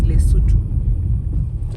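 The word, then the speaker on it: Lesotho: capital city of lutu we used to pronounce it as Leo but apparently it is lutu so we approach we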